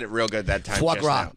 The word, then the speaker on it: foie gras: Okay, how to pronounce foie gras. I think I said it real good that time. Foie gras. It's, there's an R in it.